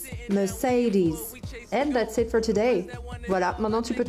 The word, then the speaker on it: Mercedes: décortiquer un par un le premier e ça va plutôt être un e me le deuxième ça va être plutôt un E comme le verbe say mer et enfin le dernier se prononcera is Mercedes Mercedes voilà maintenant